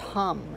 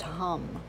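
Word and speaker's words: हं: is ham it's pronounced hum it's ham but it's pronounced hum and my body and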